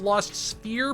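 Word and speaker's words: Lost Sphear: uh lost SPH sphere I think it's lost sphere but it's spelled s p h e a r and onii by the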